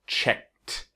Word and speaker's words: checked: we add ed, but it's not the sound of an ed, it's the sound of a T, right? Just like asked, worked, it's now checked. Not checked, but checked. Checked. Remember, step 1 is the present, check. Step 2 is checked. Check, checked, check, checked.